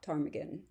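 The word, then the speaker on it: ptarmigan: course, a Swalbard rock tarmaggan. Time for one of my horrible jokes. Why can you never tell when a tarmaggan is going to the bathroom? Because the P is silent.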